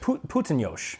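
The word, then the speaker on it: Puttonyos: Putinosh. Putin.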